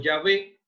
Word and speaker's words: Yahweh: y entonces se obtiene el nombre Yahweh, pronunciado Yahvé, o el nombre Jehová.